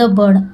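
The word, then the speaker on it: bird: उठाती है अप द बर्ड अप ऊपर द बर्ड मतलब चिड़िया को जेंटली देखिए बी आई आर डी एस तो इसको क्या बोलते हैं बर्ड ठीक है आई साइलेंट है बर्ड पढ़ते हैं जेंटली जेंटली का मतलब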